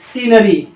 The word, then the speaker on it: scenery: मतलब है, और ये पढ़ा जाएगा सीन, SCENERY, सीनरी।